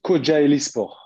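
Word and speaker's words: Kocaelispor: Là, actuellement, alors tu me dis si je le prononce bien, mais tu es à Kocaeli Spor. Alors, c'est Kocaeli Spor.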